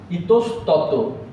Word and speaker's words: ইতস্তত: এখানেও ঠিক একই রকম ইতস্তত, এই অধ্বনিটা রেখে দিচ্ছি, কিন্তু অনেক ধ্বনি আছে সেক্ষেত্রে আমরা অধ্বনিটা রাখছি না।